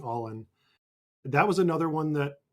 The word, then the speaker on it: AALN: Well, I just I want to underscore the AALN that Erica mentioned, which we're now pronouncing all in.